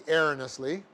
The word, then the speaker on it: erroneously: n e o usly could be Erina Slee it's probably the better pronunciation although the dictionary shows both so Augustine ere earnestly reasoned that these books